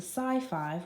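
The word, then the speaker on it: Sci-Five: they'd started calling themselves the SCI five which rhymes with high five anytime they passed each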